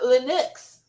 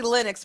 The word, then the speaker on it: Linux: our Focus spot says want to pronounce it lenux lenux Len lenux Len well yeah it's it's actually Linux but I always thought